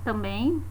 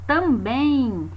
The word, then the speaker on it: também: Porque quando nós dizemos a palavra também, no final da palavra esse M soa como se fosse um I, ó. Também, nós colocamos um I na pronúncia. Então seria um Izinho oculto, né?